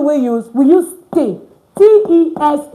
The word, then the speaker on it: tes: T-E-S is pronounced te. Te. Te. Like when you have es at the end of a word, it's pronounced as a. That's why mes is me. Tes is te.